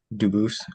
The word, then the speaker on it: Dubose: I am Dubose. Um Dubose is the English pronunciation. Dubose is the original French.